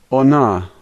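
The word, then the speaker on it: она: The only letter here that's unusual is the H, and that's an N sound, so this word is ona, ona.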